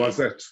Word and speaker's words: Noisette: Noisette, yeah. Very good. I was thinking, so the way that I'm pronouncing it is NWA, Noisette.